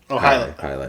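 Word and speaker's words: Jai Alai: well Works juicy bits then how do you pronounce that Cigar City IPA highight highight yeah highight uh Treehouse Julius is tied for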